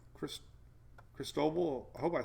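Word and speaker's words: Cristobal: you a pronunciation guide look at this crease toe no talk toe would be toe ayyy so it's crease toe ball for snow ball crystal ball there you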